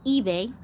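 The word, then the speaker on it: Ibei: and then this one her sister is ebay but it's not spelled like the store ebay it's spelled i b e i but it is basically ebay it's the same damn thing um but i i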